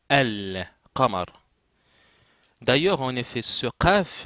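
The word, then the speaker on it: القمر: kamamar en langue arabe le Selam qui est dans alqar se prononce al Kamar d'ailleurs en effet ce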